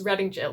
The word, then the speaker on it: Reading Gaol: I know a lot of people say Reading Gaol, but it's Reading Gaol because it's the jail of Reading.